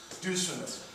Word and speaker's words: dysphemism: Dysphemism or dysphemism, depending on how you want to pronounce it.